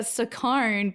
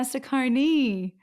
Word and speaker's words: Saccone: right pronouncing your name because I have been saying for all these years Anna Saccone but it's Anna cecconi oh that's okay I mean